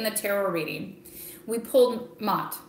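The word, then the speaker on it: Maat: tarot reading we pulled Mott right sometimes it's pronounced not that she is the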